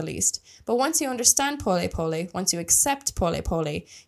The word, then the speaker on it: pole pole: po spelled like pole pole in English but pronounced po po it's Swahili in the Swahili language which is